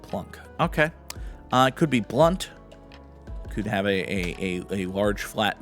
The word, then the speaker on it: Blount: And depending on who you listen to pronounced it, may or may not have been pronounced Blount, but I think it was Blunt. Most of the time I heard anyone refer to Mr. Blunt, it was as Blunt.